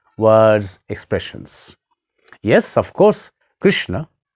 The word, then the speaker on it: Krishna: expressions yes of course krishna is right but not krishna krishna is the name of a woman it is the name of draupadi one of the great characters of mahabharata the name of krishna is krishna not krishna so if you are